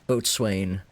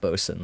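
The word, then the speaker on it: boatswain: Bosen Altbo boat swain. I think they still pronounce that Bosen though.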